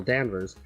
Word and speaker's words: Danvers: Is it Danvers? Danvers. Yes, it's spelled with an A.